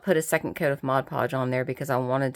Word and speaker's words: Mod Podge: strips of paper down here with Mod Podge Mod Podge yep that's how you say it and I